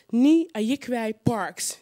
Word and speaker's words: Nii Ayikwei Parkes: Ni Ayikwai Parks. Do I pronounce that well or not?